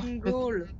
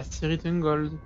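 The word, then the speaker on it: Tirith Ungol: Ritungol. De quoi? Mal prononcé. Dis-le. Ritungol. Ah, Tirithungol.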